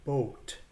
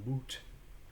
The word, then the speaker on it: boot: like in boot up the word boot would be pronounced in middle english with an o sound long o sound as in boat so the word boot in middle language is pronounced boat rather than boot if you see a